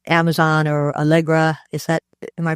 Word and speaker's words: Allegro: Yeah, I think there are probably four ways that you can stand out in a situation like Amazon or Allegra. Am I pronouncing that right?